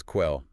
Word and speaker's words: quell: Quelo. Yes, quell. U.S.